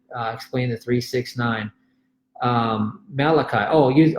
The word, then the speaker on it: Malachi: the three six nine malik 3:10 explain the three six nine malachi oh you oh you said malik you spell it that way okay Malachi 3:10 it's it's really